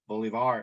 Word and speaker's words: Bolivar: martha lum lived in bolivar county which is the way bolivar is pronounced in mississippi bolivar county had a